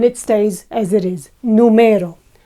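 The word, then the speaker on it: número: stays as it is numero however if we put the accent on the first one or the last one we need to mark it with the tilde numero is a noun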